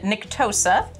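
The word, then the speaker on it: Nctosa: say these names so there's nicktool who and nick tosa you're saying with a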